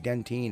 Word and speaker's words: dentine: which by the way dentine is actually the english pronunciation and spelling of the word dentin that's the way we